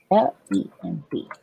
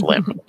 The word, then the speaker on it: Lemb: It's L-E-M-B. It is Cyprus. It's just Lemb. Whatever. I thought it was a bit more confusing than that, but no, it's just limb. So, the bee is silent.